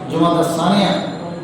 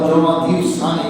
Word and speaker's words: জুমাদাল সানিয়া: উলা, জুমাদাল সানিয়া, বা জুমাদাল সানিয়া বলে, জুমাদাল উখরা বলে। এগুলো নামের মধ্যে আমাদের দেশে বই পুস্তকে আমি জমাতে অনেকবার বলেছি যে জমাদিউল আউয়াল, জমাদিউল সানি বলে, কিন্তু এটা আসলে ভুল উচ্চারণ।